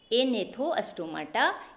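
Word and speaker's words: Agnathostomata: एक है एनेथोस्टोमाटा। तो आप बोलेंगे कि एगनेथोस्टोमाटा हम लिखे हैं, इसमें ना जी साइलेंट होता है, जी का उच्चारण नहीं किया जाता है, इसलिए आप इसको हिंदी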